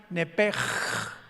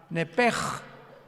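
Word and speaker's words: נפש: Los que quieran apuntarlo, la palabra alma en el hebreo es nepesh, con SH al final, como suena nepesh. Pero la SH en hebreo se pronuncia como J, entonces se pronuncia nepej, como el francés, verá que es gutural, nepej.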